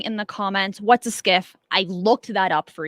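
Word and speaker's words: SCIF: and while you do that let me read to you what a skiff is it is a sensitive compartmented information facility pronounced skiff it is a U.S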